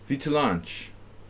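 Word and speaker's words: Vītoliņš: Vitolanch. Thanks, Nefedov. Sorry you missed the simul. He helps us with our pronunciations.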